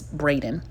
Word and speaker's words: Braden: they pinned across and I said the last name wrong earlier guys I'm sorry I said Bearden it's Braden okay so for anybody that's